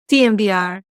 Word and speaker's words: TMVR: Guerrero, as the expert, do you pronounce it timber or TMVR? TMVR. Thank you.